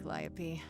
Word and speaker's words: Calliope: preach it or something so that's how it's pronounced I thought it was like cantaloupe I don't blame you